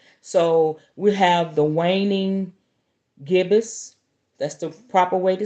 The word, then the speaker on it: gibbous: with last night so we have the waning gibbous that's the proper way to say it and